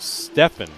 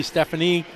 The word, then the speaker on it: Stefan: your Co announcer that my name is pronounced Stefan Stefan yes sorry didn't I I meant to say that or trust but don't feel bad because I've gotten it wrong there are many people over in Europe and you'd be surprised there's some people guys that pronounce it with the E Stephanie stuff like that guys